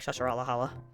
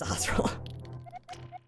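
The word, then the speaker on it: Sahasrahla: Fun fact, I did not know how to say his name when I was younger, so I could call him like Shashar Alahala, but it's Sahosa.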